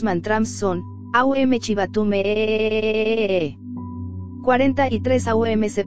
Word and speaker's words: AUM: 43 AUM se pronuncia abriendo bien la boca con la vocal A, redondeándola con la U y cerrándola con la M.